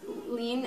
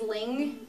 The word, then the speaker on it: 麟: and li and lean sometimes people pronounce lean as ling that's considered also correct but i think there's